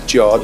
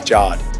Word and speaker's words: Jod: I introduced myself as Jod, and they all call me Jard. So it's Jard. However you would pronounce J-O-D.